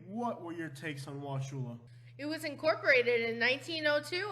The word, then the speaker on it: Wauchula: Number 9, Wauchula. Now, I do not know if anybody ever pronounces it Wauchula, but everybody that I've ever met says Wauchula.